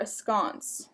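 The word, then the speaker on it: askance: the day today is Askins me hit or ascon that's correct my pronunciation here a scon um so it's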